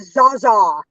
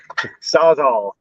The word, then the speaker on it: Sawzall: No, he pronounces it Zaza. Zaza. I'm pronouncing it properly now because everybody got on me about it. Sawzall.